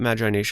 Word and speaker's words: Magi Nation: sound of it but I will call it magination because that is how most people call it this is a dead